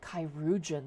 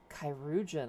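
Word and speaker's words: chirurgeon: a chyuan without delay kyugan is how you say that oh kyugan I thought it was like a play on surgeon which I guess yeah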